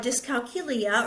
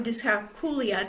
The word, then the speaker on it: dyscalculia: I have dyscalculia or dyscalculia, depending on how you pronounce it, and that's the math disability.